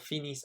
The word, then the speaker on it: finissent: And les cours finissent à 3h. Please note that you don't pronounce the N or the T.